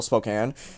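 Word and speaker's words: Spokane: the way until spoke all the way until Spokan like that and yes that is how you pronounce it I looked it up I looked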